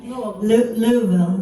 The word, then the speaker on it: Louisville: hometown of kentucky on our way out there louisville how do you say it you're still you